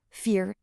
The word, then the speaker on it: vier: For these two, you just pronounce the second letter. So in IE, the second letter is E, so you get an E sound. In EI, the second letter is I, so you get an I sound.